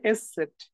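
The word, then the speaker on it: ß: ওকে, এটাকে বলা হচ্ছে এস সেট। হ্যাঁ, এস সেটের যে উচ্চারণ সেটা হচ্ছে ডাবল এস এর মতো। এস সেটের যে উচ্চারণ সেটা হচ্ছে ডাবল এস এর মতো। ওকে, এস সেটকে যে আপনি উচ্চারণ যখন করবেন সেটা হচ্ছে ডাবল এস এর মতো হচ্ছে আসবে।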